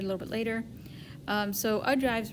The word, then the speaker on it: ogives: Ogives, or is how they pronounce it, ogives, right?